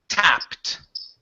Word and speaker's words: tapped: Instead of taped, the word is a tapped. Double p. This is a short a sound. Instead of tape, which only has one p, this is tapped.